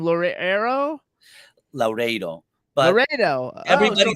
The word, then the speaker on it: Laureiro: That's not, doesn't look like Laredo. Yeah, well, I'm Italian, so I could speak it. So it's Laredo. Yes. Laredo. Laredo. Okay. No, not like Larry.